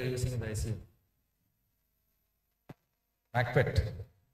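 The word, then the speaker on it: Maquet: MACPET. T is silent. So, how do you pronounce it? MACPET.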